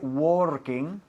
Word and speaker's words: working: Se escribe working, pero no se pronuncia así, sino working. Un sonido de vocal que tampoco existe en español. Working. Lo hacemos casi con la garganta ahí.